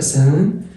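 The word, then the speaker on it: ceinture: ان بالانجلش ان تبقى سانتور. ركز بقى في المقطع ده اللي هو التي مع اليو مع الار مع الاي في الانجليش بيتنطق تشار او شار.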